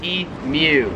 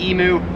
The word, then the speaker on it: emu: pronounce differently is imu so americans pronounce it emu australians pronounce it e mew i recently did a